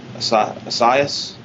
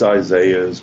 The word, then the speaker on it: Isaiah: For this is he that was spoken of by the prophet Asa Assaias. It's Isaiah's with It's probably spelled different. Yeah, it's spelled with a E.